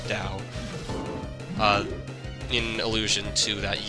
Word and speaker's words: Tao: this Trio is the Dao Trio spelled Tao but pronounced it's Dao uh in illusion to